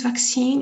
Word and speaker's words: vaccine: okay so vaccine vaccine it's not pronounced the facts M it is vaccine you have to see it's a long sound vaccine dressing dressing just to